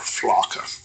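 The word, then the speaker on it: Flakka: new drug called I asked don't how to pronounce Friday night it's called Flocka F L A kka but again six people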